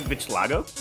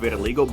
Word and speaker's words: vitiligo: Does she have vitiligo?